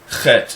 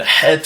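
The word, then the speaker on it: חית: the letter chaf, and het is actually pronounced differently. Het. It's a guttural H sound.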